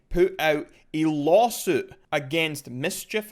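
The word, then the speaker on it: MSCHF: out a lawsuit against mischief i think is how you pronounce it and they are basically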